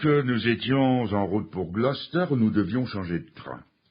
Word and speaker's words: Gloucester: Ça s'écrit Gloucester. Mais voyez-vous, pour parler anglais, il suffit de mettre une pomme de terre bien chaude dans sa bouche. Vous essayez de dire Gloucester et vous dites Gloucester.